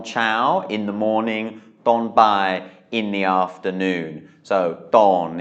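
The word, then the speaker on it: บ่าย: this is bai, and it's a low tone because it's a mid-class consonant with the tone mark mai ek.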